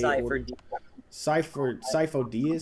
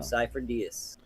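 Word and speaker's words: Sifo-Dyas: Sifo Dyas? Cypher. Yeah. Cypher Diaz.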